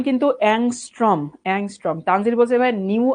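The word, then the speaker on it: ångström: এটা হচ্ছে অ্যাংস্ট্রম। অ্যাংস্ট্রম, এটার উচ্চারণ অনেকে অদ্ভুত কি কি জানি উচ্চারণ করো।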